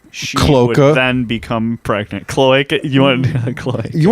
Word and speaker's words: cloaca: I just pronounce the O-A like that, cloaca.